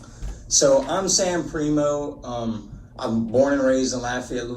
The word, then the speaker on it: Primeaux: I'm your host, Mary Bodwin, and joining us today is Sam Primo. Is that how you pronounce it?